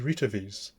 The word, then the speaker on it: Retevis: Now then, this one has been sent to me from our friends at RETEVIS, or RETEVIS, so you can all, but apparently it's pronounced as RETEVIS.